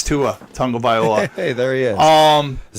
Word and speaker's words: Tagovailoa: It's Tua Tagovailoa. Hey, there he is. Is that how you say it? That's Tagovailoa.